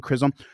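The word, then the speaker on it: Chisholm: i h LM Krum John krism I think is how you say the last name krism krism versus Georgia in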